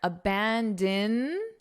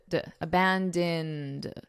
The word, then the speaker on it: abandoned: Now notice the pronunciation here. Abandoned, because this ED is being pronounced as a very soft D. Abandoned, abandoned.